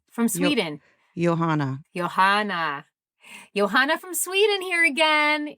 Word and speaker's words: Johanna: Because she's saying you pronounced it right. From Sweden. Johanna.